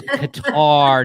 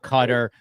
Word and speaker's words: Qatar: question by the way it's guar not cutter I'm gonna defer to